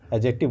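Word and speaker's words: adjective: जैसे एडजेक्टिव लिखते हैं ना, एडजेक्टिव, ठीक है, यही लिखते हैं, एडजेक्टिव बोलते हैं हम, क्या बोलते हैं, एडजेक्टिव। तो ये याद रखिएगा, इसमें डी साइलेंट हो जाता है, ठीक है।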